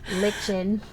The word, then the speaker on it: lichen: Delaney pronounces it lichen.